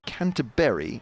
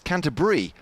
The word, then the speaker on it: Canterbury: 208 for one so James says T to pronounce it as canterberry as in fruit but now BBC commentators are pronouncing it as Canter b as in cheese I'm so upset about this